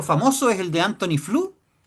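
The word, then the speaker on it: Flew: Un ejemplo famoso es el de Anthony Flu. Flu se escribe F L E W, por si acaso.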